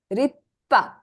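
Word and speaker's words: りっぱ: S is a small s. So do you pronounce it? No. Instead, you'll have to stress the kana that comes after it. So what is this word? Rippa.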